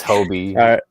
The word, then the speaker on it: Hobie: Brooke said it's Hobie. It's Hobie.